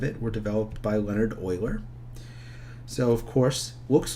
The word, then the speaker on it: Euler: the properties of it were developed by Leonhard Euler so of course looks like you're but it's pronounced Euler and hence his name starts with an E